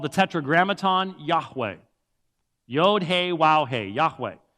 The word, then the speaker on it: Yahweh: And the problem is, because we don't render it as Yahweh, or as we slaughter it in English, Jehovah, it could not have been that. That's a 3-syllable word. It's only a 2-syllable word.